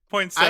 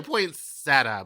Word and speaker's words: poinsettia: Like, poinsettia? I say poinsettia, but I think I say it wrong. Because I know it's poinsettia.